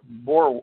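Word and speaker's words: Boer: is the is the B Bor how do you pronounce that the Bor War the The Bu Wars yes that that is because B that is the Dutch word for Farmer that's right the poor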